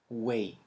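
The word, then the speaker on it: güey: is the word way way yeah i know it sounds very similar to the word way in english but trust me it has a totally totally different meaning now way in uh in spanish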